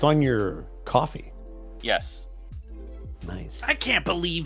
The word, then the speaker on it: Ko-fi: It's supposed to be coffee, Someone but it sent should me be a link Ko-Fi.